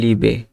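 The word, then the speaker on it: Liebe: তো এখানে এরপরে যদি আমরা দেখি, আই ই থাকলে উচ্চারণটা হ্রস্ব এর মতো হবে, ই। আই ই দেখলে লম্বা ই উচ্চারণ করো। যেমন বাংলায় হ্রস্বই বলি দীর্ঘস্বরে ই, ঠিক আছে? তো আই ই এখানে 4টা দেওয়া আছে। প্রথমটা হচ্ছে যে লিবে।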